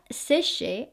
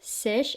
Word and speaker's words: sèche: So not séché, not like her. So it's peau sèche à très sèche.